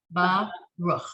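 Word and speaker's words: ברוך: But here you have, so the word Baruch, the last word on line 5, is only 2 syllables. Baruch, right? Right. The last word on line 6 is 3 syllables. Baruchu, right? So you're still putting the emphasis on the last syllable.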